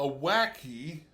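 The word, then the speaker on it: wacke: On the other hand, a wacky, let's see if I remember right, it's spelled w a c k e.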